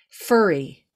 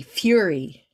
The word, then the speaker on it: fury: uh this english thing when it's two r's furry as in lots of fur but when it's when it's one r it's fury yuri fury so you really pronounce